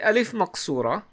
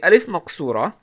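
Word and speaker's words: ألف مقصورة: we have alif naksura is essentially an alif so it's a it's an ah or ah sound just like the long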